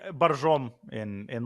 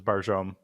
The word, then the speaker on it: Borjomi: In Barjom, in like the Russian pronunciations, Barjom, but Barjomi is the proper spelling.